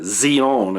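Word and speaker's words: ציון: to get into is this word Zion okay zeona as it would as it would be pronounced in in Hebrew because I made the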